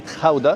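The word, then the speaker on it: Gouda: ما علينا، احنا هنا وفي طريقنا لبلجيكا عدينا على مدينه اسمها مدينه خاوده. الهولنديين بينطقوها كده واحنا بننطقها جوده، والانجليز برضو بينطقوها جوده نسبه للجبنه الجوده اللي انتوا عارفينها، او الجبنه الجوده متسميه عليها.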